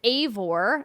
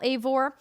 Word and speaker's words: Eivor: Their hero is named Eivor, and I have Eivor like Cravor because it's actually EI, so I wanted to get the pronunciation in there.